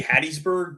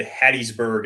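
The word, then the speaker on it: Hattiesburg: I say Hattisburg because I know that the story is that it's named Hattisburg after somebody whose name was Hattie and so I emphasize Hattie, but I do think more people probably say Hattisburg.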